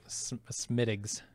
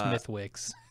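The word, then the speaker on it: Smithwick's: Smittigs. Yeah. Instead of Smithwicks.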